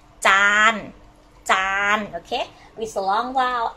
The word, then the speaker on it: จาน: know how to say in Thai we say จานจาน okay with a long vowel and the ch